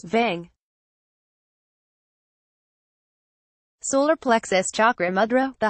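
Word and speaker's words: वं: Mantra, repeat the mantra, VAM, which is pronounced as VANG.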